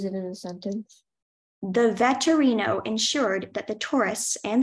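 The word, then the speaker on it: vetturino: Your word is veterino. Can you repeat the word? Veterino. Veterino. Can I have the definition? A person who drives an Italian four-wheel carriage. Can you use it in a sentence? The veterino ensured that the tourists and their luggage made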